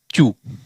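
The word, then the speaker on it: chew: को उच्चारण क्या करेंगे, जब सी एच जे एल आर एस एच ऐसे ये शब्द हो, ये लेटर हो, सी एच जे एल आर और एस एच, और उसमें ई डब्ल्यू आए तो उसका उच्चारण क्या करेंगे, ऊ करेंगे।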